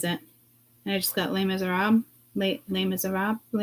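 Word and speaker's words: Les Misérables: The correct pronunciation of Les Miserables in French or In English, les miserables. Silent.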